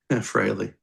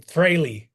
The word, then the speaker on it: Frehley: Oh, every time somebody pronounces Ace's last name wrong, Freely. drinking game. Frehley.